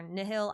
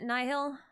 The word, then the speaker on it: Nihil: Yeah, I would prefer they pronounce it Nihil, as in nihility, but I've also heard it pronounced Nihil, so we'll see.